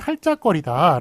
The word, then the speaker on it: 할짝거리다: 자, 다만의 예외적인 것인데, 자, 예를 보시면 할짝거리다 라는 식으로 할다라는 게 원래 리을티읕이잖아요. 리을티읕이죠. 리을티읕인데 발음을 할짝거리다라고 앞에 걸로 발음하지 겹받침 리을로 발음하나요? 티읕으로 발음하나요? 할짝거리다 리을로 발음하죠.